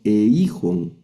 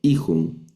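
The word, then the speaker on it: εἶχον: No leemos eijon, eijon, sino hij, que es tenía, es la traducción.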